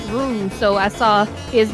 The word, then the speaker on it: roux: So, because I've watched cooking shows since I was like a young teenager, I know how to pronounce roux, so I saw his name with an LS and I was like, roux, rules card?